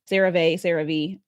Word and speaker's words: CeraVe: CeraVe, I'm pronouncing it right.